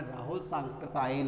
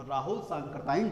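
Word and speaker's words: राहुल सांकृत्यायन: राहुल सांकृतायन है। तो इसका उच्चारण में आपको ठीक से आना चाहिए। ये एक बहुत प्रसिद्ध लेखक हैं। तो राहुल सांकृतायन जो हैं वो अपनी यात्रा वृत्तांत, मैंने यहाँ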